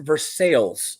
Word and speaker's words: Versailles: There's a Versailles, Indiana, but it's pronounced Versailles here. Versailles. Spelled Versailles. It's actually officially pronounced Versailles. With a double L, right? It's Versailles. You got to say it right, the Latin way. Versailles, not Versailles.